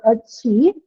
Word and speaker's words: achieve: So achieve, it's stressed on the second one, and you have anything. So achievement again will not have any change in the stress.